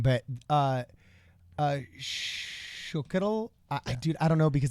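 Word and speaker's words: Xóchitl: Is it Chocotl? Yeah.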